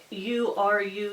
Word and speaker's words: Uru: is some knitcrate yarn it's called uru yarn and i always try to pronounce it so i'm all like that but it's it's you are you yarn it's the electric line